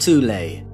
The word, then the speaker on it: Thule: called The Soul Society sometimes alternatively pronounced toulay that had sub-factions within